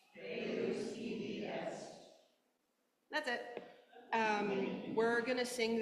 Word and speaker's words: Deus ibi est: Deus ibi est. Deus ibi est.